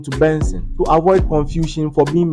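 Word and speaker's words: BNXN: 14th May 1997 known professionally as BN xn pronounced as Benson and formerly known as Buju it's a Nigerian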